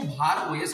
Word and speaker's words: BharOS: कुछ लोग इसको भार ओएस कह रहे हैं और कुछ लोग इसको भैरोस कह रहे हैं।